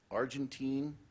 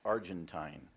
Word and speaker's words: Argentine: Argentine, also pronounced Argentine.